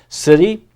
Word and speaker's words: city: And there's that Y acting as an E sound at the end, and the C is a soft C like an S sound.